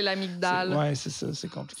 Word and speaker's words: amygdale: Puis ça s'écrit amygdale, mais c'est les fameux G muets que les scientifiques prononcent pas. Non, genre. fait que c'est l'amygdale.